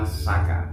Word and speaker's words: Saka: Sekarang masuk hitungan ke 1945 Saka. Nah, setahu saya ada yang nyebut Caka karena tulisnya Cak. C. Pronunciation-nya penyebutan. Kalau menurut saya Saka.